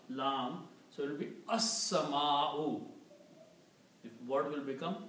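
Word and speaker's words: السماء: And also Seen takes the sound of lam, so it will be as-sama'u. The word will become as-sama'u, means the sky. Okay? So this word will become as-sama'u, the sky.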